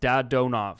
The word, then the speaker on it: Dadonov: So the way Russian pronunciation works is every syllable, like there's no change depending on the configuration. So it's Dadonov. Like there's no change depending on like the sequence.